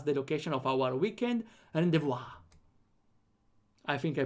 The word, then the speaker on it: rendezvous: It's pronounced rendezvous. Rendezvous. Okay, I think I got it kinda right. Without the re. Rendezvous. Okay. Rendezvous. Vu. Okay, no, never mind. It's vu. Rendezvous.